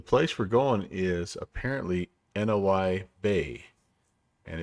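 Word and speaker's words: Noi Bai: we're going is apparently noi Bay and it's it's pronounced or it's spelled n-o-i-b-a-i so I thought maybe it was no buy but uh looks like it is no I buy I'm I'm kind of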